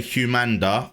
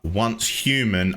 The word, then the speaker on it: Once Human: just quickly say guys he did say humanda once human I believe this voice is AI especially listening to the way he pronounced humanda cuz yeah is once human they just released that